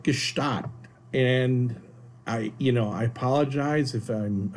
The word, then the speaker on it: Gstaad: Gstaad or Gstaad. Gstaad or Gstaad. See, so... So I call it Gstaad, and I apologize if